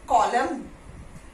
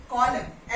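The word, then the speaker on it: column: हिम सो him okay कॉलम कॉलम एन is silent over here and then comes कंडेम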